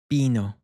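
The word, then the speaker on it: vino: As very often, at least in Latin America, you'll hear this take on more of a soft B. So the pronunciation that we have here is bino.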